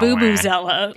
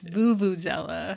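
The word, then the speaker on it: vuvuzela: It's not Boobazella, like Boo Boo the Bear. It's Vuvuzella.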